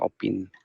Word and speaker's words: opine: এটা অপাইন না অপিন হবে উচ্চারণটা, অপিন। Oh, আচ্ছা আচ্ছা, okay. হুম। তো এটার ক্ষেত্রে কি হয়, মানে আপনার ওই যে ওটা আছে না, ও এর ওখানটাতে আপনার একটু বেশি স্ট্রেস হবে, মানে ও অপিন, মানে